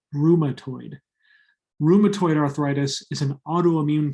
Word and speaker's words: rheumatoid: ads for drugs that treat rheumatoid arthritis it's pronounced rheumatoid rheumatoid arthritis is an autoimmune condition that means